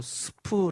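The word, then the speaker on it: סוף: 갈 때 인데 이 갈대가 히브리어로 스프 라는 단어를 씁니다 발음이 쉽지 어 우리가 그 보통 먹는 스프 가십을 리어 로는 갈대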